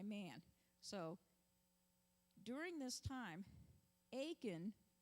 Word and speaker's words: Achan: So during this time, Achan, rhymes with bacon, has several opportunities to come forth.